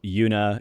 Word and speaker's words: Yuna: So Una is spelled YUNA. Yeah.